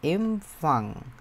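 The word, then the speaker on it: Empfang: হয় হচ্ছে ডয়ার এমফাং উচ্চারণটা করার চেষ্টা করেন তো দেখি আপনারা পারেন নাকি ডিয়ার এমফ এমফাং এ আমরা সুন্দরভাবে উচ্চারণ করে দেখতে পারি না যে এমফাং বাংলা লিখে আপনাদের এম তারপর ফাং এরকম এম ফাং এটা আমরা কি বুঝলাম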